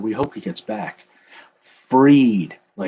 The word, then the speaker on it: Fried: Freed, like Kylo Ren wanting to be free of the pain. Max Fried. All right. But that's so weird. It's spelled like fried. Like if I go into a place and order fried onions, I guess I should start saying freed onions.